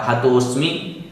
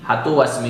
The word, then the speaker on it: हतोस्मि: और हतोस्मि, हतो अस्मि नहीं, हतोस्मि।